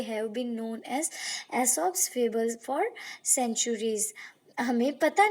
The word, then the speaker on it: Aesop: आगे है, many of this fables are believe to have been told by अ man named एसॉप, pronounced एसॉप, who lived in Greece over 2500 years ago.